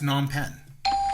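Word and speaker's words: Phnom Penh: Uh, it's non pen. And can you spell it?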